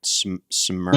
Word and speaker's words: Smyrna: but still, I want to know if I'm saying it right. Smyrna. Yeah, Smyrna. Yes, sir.